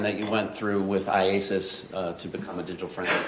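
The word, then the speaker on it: IACIS: I AIS Isis yes can we call it Isis yes how do you say it iasis iasis all right I just want to shorten it don't call it Isis all right so iasis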